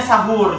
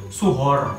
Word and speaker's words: suhoor: Namanya bacanya sahur juga, sahur, tapi untuk spellingnya itu SUHOOR. Jadi suhor, suhor, suhor, tapi bacanya tetap sahur gitu.